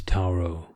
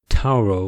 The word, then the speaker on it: Tauro: She pronounced Tauro with a th and not a t, as it should be.